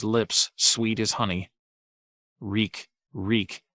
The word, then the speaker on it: Reek: sweet as honey reek reek it rhymes with sneak the deaths set ruse